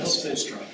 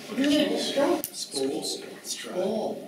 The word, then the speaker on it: Spoelstra: Yeah, right. Yeah, Spolstra. Spolstra.